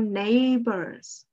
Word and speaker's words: neighbor: Okay, we are talking about neighbors. Can you read up to me, neighbor? Neighbor. Neighbor. Yeah. Neighbor. Very good. The stress is on nay.